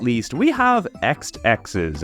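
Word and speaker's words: Exed Exes: not least we have X X's at least I think that's how you're supposed to pronounce it released in early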